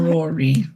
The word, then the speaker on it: Narori: Quite a brutish look for you, Miss Narori? Yes, not Rory. How do you say it? Narori. There you go. That's perfect. Narori.